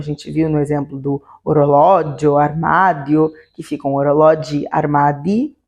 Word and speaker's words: orologio: Por exemplo, orologio, orologi. Repara que diferente do zio, o io, né, é a sílaba mais forte, e no orologio, o lo é a sílaba mais forte ao invés do dio.